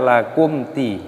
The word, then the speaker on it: lakum: Lakum di sini mim sukun bertemu dengan huruf dal, ini hukumnya dibaca idhar syafawi. Jadi dibaca jelas, jangan didengungkan. Jadi dibaca lakum di, jangan lakum di, tidak boleh.